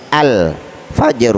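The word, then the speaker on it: الفجر: ini termasuk huruf qamariyah Oleh karena itu cara membaca al-nya dibaca dengan jelas al-fajr Oh ya Enggak boleh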